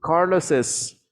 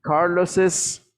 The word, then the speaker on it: Carlos's: Que se le está pronunciando la S de más. Exacto, exactamente. La pronunciación al final, nosotros le agregamos, vamos a poner aquí Carlos, y nosotros le agregamos una E y una S. Entonces suena así.